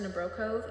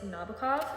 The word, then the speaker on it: Nabokov: I realize that his name isn't pronounced Nebro. It's Nabokov.